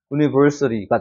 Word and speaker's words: university: 그 다음에 CT가 아니라 여기 슈아 발음이 적용이 되니까 어떻게 돼요? university가 되는 겁니다.